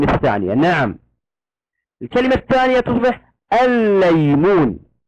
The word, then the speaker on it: الليمون: نعم، الكلمة الثانية تصبح الليمون. الليمون تكتب بلامان هكذا ونضع الشدة على اللام الثانية، وفي النطق تنطقها لاما واحدة مشددة. كلمة ليس تصبح ماذا؟